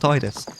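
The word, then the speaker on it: Tidus: Hearts one it's pronounced Titus and in the Canon game that is Kingdom Hearts 2 it's pronounced tedis or is it the other way around I can't remember it doesn't matter the fact is that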